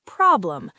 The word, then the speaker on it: problem: Now, pronunciation tip. Remember where the stress goes? On problem.